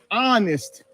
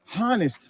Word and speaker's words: honest: n s t on honest they don't even they don't even pronounce the h honest honest honest you have